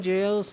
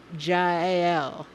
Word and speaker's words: Jll: Oh, pronouncing Jill's name. If I go fast, I say Jill. But actually, it's Jll. Jll.